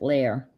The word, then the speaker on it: Lahr: So there's not much you can do to Lahr, except pronounce it Lair.